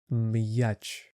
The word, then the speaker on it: м'яч: The word m. This sound is not affected by the sound yah. So it stays hard. Match.